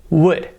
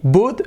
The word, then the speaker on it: would: noise ud is wood without closing your mouth okay important you can't close your mouth would that would be the sound important don't say boot don't say good don't say and don't say bulld okay would would would it